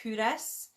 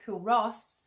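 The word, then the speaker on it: Culross: but and that's why when we read it it looks like cool Ross and but the people of faith will give you a hard time if you say that so always call it kudos and and as you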